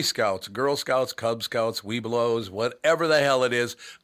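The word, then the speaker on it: Webelos: I think I think they put an extra syllable between we and blow so it's wee blows or something weow yeah so but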